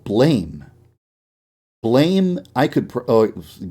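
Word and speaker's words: BLAME!: massive oh it's actually pronounced blam but i will continue continuously up and call it blame on accident whoops sorry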